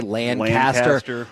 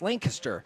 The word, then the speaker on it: Lancaster: it right too cuz I don't say Landcaster I I I will admit it's Lancaster lanter I will admit I